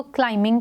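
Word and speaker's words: climbing: इस क्लाइंबिंग D mountain क्लाइंबिंग में बी जो है वो एक साइलेंट लेटर है हम इसको क्लाइमिंग पढ़ेंगे बी को प्रोनाउंस नहीं करेंगे है रैप्ड डी रेस्ट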